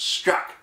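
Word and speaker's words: Strzok: FBI special agent Peter s-t-r-z-o-k pronounced Scott who was leading the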